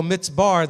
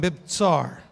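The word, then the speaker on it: מבצר: Because it's easier to go mitzbar than mibtsar.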